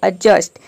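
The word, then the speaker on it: adjust: इसको हम एडजस्ट नहीं बोलते हैं या फिर एडजस्ट नहीं बोलेंगे, इसको बोलेंगे एडजस्ट, यानी कि डी यहाँ पे साइलेंट है।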